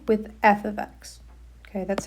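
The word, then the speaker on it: f(x): We pronounce this as f ofx. It does not mean f* x or f multiplied by x. It is just f ofx.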